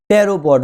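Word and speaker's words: pteropod: टेरोपॉड ऊज, P silent होता है, याद रखना।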